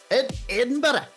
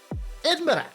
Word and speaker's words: Edinburgh: Edinburgh. Edinburgh. I always wonder why they don't pronounce the gh.